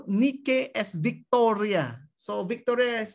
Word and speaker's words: Nike: this greek mythologies you find that the goddess nike originally pronounced as nikkei that's the that's the pronunciation was the personification